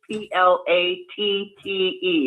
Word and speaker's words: Platte: It is p l It is p l a t t e. Is that correct? Yes. Okay. It's just pronounced Platte.